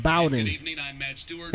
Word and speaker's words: Bowdon: Okay, I was pronouncing it wrong. It's pronounced Bowden.